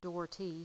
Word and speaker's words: Dougherty: so start out with my name is dhy and so it's it's pronounced dhy so you can put